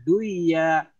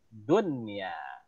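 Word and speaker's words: دنيا: artinya akan beda nanti kalau kita baca duya fil hayatid duya, orang nggak akan tahu. Jadi fil hayatid dunya.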